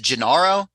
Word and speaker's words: Gennaro: Is it Gennaro? Is that how you say it? Gennaro? Gennaro, yeah. Gennaro.